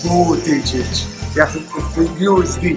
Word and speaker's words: Buttigieg: It should be pronounced Buttigieg. Buttigieg.